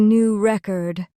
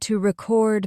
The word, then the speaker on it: record: Let's try record as a noun. I have a new record. Stress on the first syllable. Repeat. I have a new record. Now, as a verb, I need to record my speech. Stress on the second syllable.